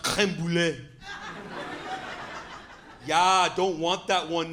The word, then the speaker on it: crème brûlée: I'm like, yeah, I'll get the creamy brulee, please. He corrected me. He's like, actually, it's pronounced crème brûlée.